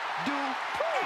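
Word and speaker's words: Dupri: Michael, it's pronounced Dupree. And representing the Alpha Academy from Phoenix, Arizona, Maxine Dupree.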